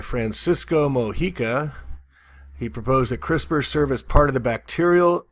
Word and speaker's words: CRISPR: very cute MIT so CRISPR crispers pronounced CRISPR stands for clustered regularly